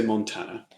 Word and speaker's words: Montana: Okay, so how did you pronounce it? I would say Montana. Oh, he would. Okay, I thought you said Montana.